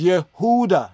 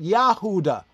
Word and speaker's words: Yehuda: to our own Roots it is Yehuda not yahudah I got to point that out again because yahudah right is not even proper Hebrew right and I know